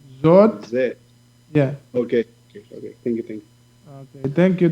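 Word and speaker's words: זאת: Zot is a taf at the end, so it sounds like a T.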